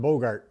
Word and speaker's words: Bogart: We got His name is actually pronounced Bogart. Bogart. Thank you. Like Bogart. who's Like the actor?